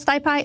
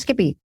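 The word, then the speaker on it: SciPy: at Skippy 2023 some folks may call it stiai it is pronounced Skippy that is Melissa Weber Mendoza and Ness hawen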